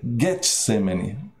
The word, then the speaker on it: Getsêmani: a maioria ler e Getsemani é Eu Sempre menciono Gethsemani é com g e esse nome é um nome grego e na língua grega não tem som de DJ né interessante jarra jaca